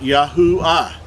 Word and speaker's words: Yahuah: but being at the it's at the end of a word or name it makes the ah sound so his name would be pronounced yahoo ah yahuwah is how we